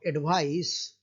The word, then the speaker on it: advice: ice a noun and here c of advice ce advice sounds as sir so adv ise advice